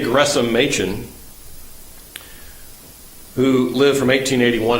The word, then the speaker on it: Gresham: Gresham is the correct pronunciation, not Gresham, even though it's got an H, it's Gresham. J. Gresham Machen who lived from